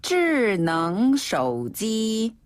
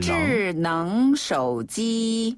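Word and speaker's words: 智能手机: 智能手机. 이 앞부분 발음이 어렵네요. 네, 앞부분만 조금 까다롭지만 뒤엔 쉬워요. 다시 한번. 智能手机.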